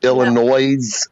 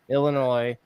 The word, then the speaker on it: Illinois: Illinois with the S and the S is silent what right now well